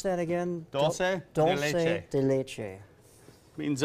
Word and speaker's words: dulce de leche: And how do you pronounce that again? Dulce de leche.